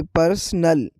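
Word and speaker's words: personal: जैसे कि आप देख सकते हैं उर्दू साउंड में पहले नंबर पर है पर्सनल। पर दूसरे नंबर पर है परसल। परसल फर्क वोवेल और स्ट्रेस में है।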